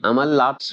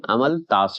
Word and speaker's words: अमलताश: अहमद देखिए अमल लात्स भी बोलते हैं अमल ताश भी बोलते हैं तो अमलताश ज्यादा अच्छा है उच्चारण हो रहा है लिखा भी हुआ है तो याद रखिएगा द